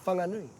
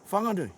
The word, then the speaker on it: Whanganui: Araroa comes to us, they're saying Whanganui, Whanganui. as we would say Whanganui, but our mita is Right. hugely, just like our geography. So what you're saying is, say it how you say it, but say it with aroha, eh?